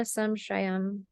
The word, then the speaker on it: samshraya: So sanchayam cha prakopam cha prasaram stana samshrayam. Stana samshray. I hope this isn't all too technical for you. This is pronounced SH.